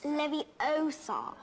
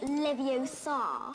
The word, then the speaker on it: Leviosa: someone eye out besides you're saying it wrong it's Levi Oar not Levi Oar why the [ __